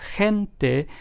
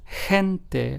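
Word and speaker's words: gente: as the H so hente g n t which means people in Spanish is pronounced as hente like if it started with an H in English whereas gusta which starts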